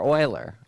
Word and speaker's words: Euler: found font loosely references euler oiler euler is pronounced the spiral which is